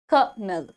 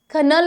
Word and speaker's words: colonel: सो बट the truth is that this correct pronunciation of this word is कनल, कनल, कनल, कनल. ठीक है, कनल. Kernel is the correct pronunciation of this word.